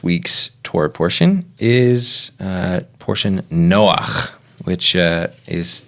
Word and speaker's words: Noach: It has the ch, the guttural sound on the end.